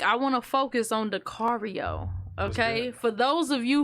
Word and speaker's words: Dakario: Really quick, I want to focus on Dakario. Okay, for those of you who don't know, it's like Dakario rhymes with Mario, and he got the super in front of it, and it ain't for no reason.